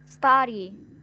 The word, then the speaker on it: study: Study. Study. Yes. Cái chữ U này, letter này này, mình sẽ đọc là âm á nha. Nó hơi ngả á một chút này.